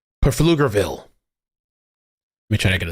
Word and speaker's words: Pflugerville: Jamie says the P is silent and pointless. Pflugerville.